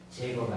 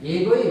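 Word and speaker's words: Jaeger: 그다음에 예거에 의하면 그 독일어는 저희가 야 발음이 나죠. 그래서 제거가 아니라 예거입니다. 예거에 의하면 그리스도 로마에서 기독교의 영향을 준 것 중에서 종교나 황제 숭배보다는 철학이 크다고 합니다.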